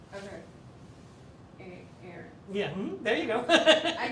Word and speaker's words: Ahrens: Ahrens, Ahrens. Ahrens? Yeah, the H is silent. Okay. Aaron.